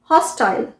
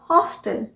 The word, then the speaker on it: hostile: HOSTILE, हॉस्टाइल, हॉस्टाइल, ये हुआ British pronunciation, और अमेरिकन प्रोनाउंसिएशन हुआ हॉस्टल, हॉस्टल, हॉस्टाइल, हॉस्टल। अच्छा, ये तो बहुत कॉमन है, VITAMIN।